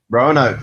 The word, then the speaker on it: Roanoke: This week we had the first episode of American Horror Story season 6, Roanoke, I think it's pronounced. Roanoke, that sounds better.